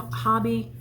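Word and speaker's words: Hobbii: hobby which I've heard it's not pronounced Toby it's pronounced Hobby and I don't know according to bag a day she talked to somebody in Denmark and that's how it's pronounced so um and sorry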